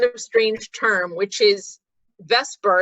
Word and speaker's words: VSEPR: strange term which is Vesper is usually how it's pronounced or VSEPR or valence